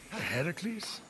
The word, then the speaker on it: Heracles: Heracles? Yeah, that! That is how it's supposed to be pronounced.